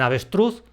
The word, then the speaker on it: avestruz: En cambio, en avestruz cargo esa fuerza en la sílaba truz, la última.